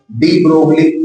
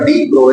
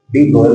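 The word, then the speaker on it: de Broglie: फिर हमारे एक अंकल आ गए जिनका नाम है डीब्रोगली। वैसे नाम तो उनका डी ब्रोल है। डी प्रोगल बोला जाता है। लेकिन डी ब्रोगली बोलते थे स्पेलिंग।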